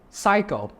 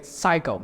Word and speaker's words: psycho: are specials for example psycho psycho yeah this the p is silent for some special words you have to remember okay the p s just say psycho psycho ditch the p